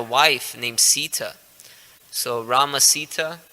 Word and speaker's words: Sita: named Sita so Rama Sita it rhymes with bhagavad-gita and Rama's know Sita's